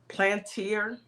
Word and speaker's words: Palantir: It's called Palantir. Pala something. Spell it.